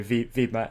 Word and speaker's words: Wibmer: Yeah, because there's no W, right? So Wibmer, yeah.